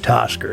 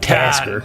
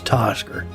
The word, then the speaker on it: Tosker: It's Gadrick Tosker. It's not Tasker. It's Tosker.